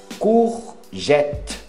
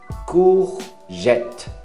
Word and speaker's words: courgette: Courgette. Courgette. Não é U, não, é som de U. Courgette. Até a letra T, não pronuncia o E.